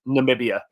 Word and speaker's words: Namibia: Namibia. There you go. You're putting the emphasis on the wrong side. Just all right. Namibia.